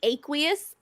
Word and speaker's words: aqueous: It's actually aqueous. I had to aqueous. I had to look it up on how to pronounce it. Oh my god! Aqueous. Okay, tell me. That's it. Aqueous. It's aqueous.